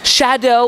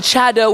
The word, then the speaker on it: Chado: and he said well it's Shadow with some and chadow with others so apples or what